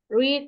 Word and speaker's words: read: irulartohnya kayak iniul sama Tapi bacanya beda read red red seperti itu ya read